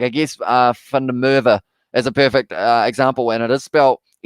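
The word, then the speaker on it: van der Merwe: Like I guess Fundamerva is a perfect example, and it is spelled MERWE. So of course I say it as V, because I am pronouncing it in the South African way.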